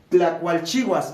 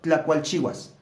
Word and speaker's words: Tlacualchihuas: ¿Cómo se pronuncia Tlacualchihuas? Tlacualchihuas. Así como está escrito. Tlacualchihuas.